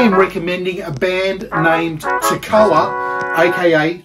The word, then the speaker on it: Tekoa: DJ Payne I am recommending a band named Toccoa AKA to koi it's spelled t-e-k-o-a I'll put it on the screen